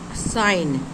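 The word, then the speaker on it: sign: टी सेंट means सुगंध साइन एस आई जी एन साइन साइन mean चिन्ह किसी प्रकार का सिंबल रहता है उसको हम साइन बोलते हैं तो यहां पर साइन है जो कि जी साइलेंट है एस आई जी एन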